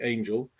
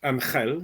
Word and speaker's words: Angel: my husband and I, Angel and I. He's from Philippines, Angel, if you want to pronounce it in the Spanish way, but we say Angel in English.